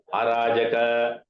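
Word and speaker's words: अराजक: Arajaka. See that Sanskrit word is always there in all languages. In Tamil, we say Arajakam. Huh? Only pronunciation differs. Huh? Here in Sanskrit, it is Arajaka.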